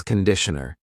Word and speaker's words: conditioner: This is shampoo and this is conditioner. Be careful of the pronunciation. It's not conditioner, it's conditioner. The first vowel is awa.